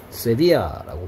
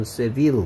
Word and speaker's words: Sevilla: Sevilla라고 발음하네요. 우리 뭐 영어식 발음으로는 Seville 같은데. Sevilla라고 스페인어 발음으로 그런가 봐요.